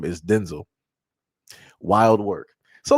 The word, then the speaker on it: Denzel: Like I said, uh, Denzel Washington is not pronounced Denzel Washington. is pronounced Denzel, which is crazy.